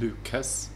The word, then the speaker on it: Lucas: Because also it was spelled Lucas, and it's Luca.